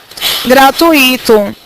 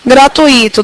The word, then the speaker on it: gratuito: falo gratuito tem acento muita gente fala como gratuito só que Se as pessoas falarem gratuito é porque elas estão separando as sílabas assim então um problema de separação silábica que interfere na pronúncia da palavra tá não pode ser gratuito tem que ser gratuito o verbo fluir o